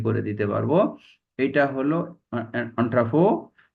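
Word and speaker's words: entrepôt: এটা হলো অন্ট্রাফো, উচ্চারণ হচ্ছে এন্ট্রিপোর্ট, বাংলা বানানো হচ্ছে এন্ট্রিপোর্ট, উচ্চারণ হচ্ছে অন্ট্রাফো।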